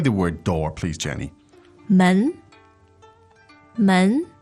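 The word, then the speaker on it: 门: word door please Jenny men men now that sounds to me like a second to that's right now uh and so the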